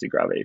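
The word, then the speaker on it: De Grâve: which by the way that looks like grave it might you know i think it's pronounced degravy but he's grabbing a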